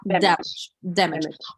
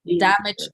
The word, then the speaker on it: damage: Damage. Okay. Ранить. Injure. Тоже, да, ударение? Damage, injure. Все на первый слог.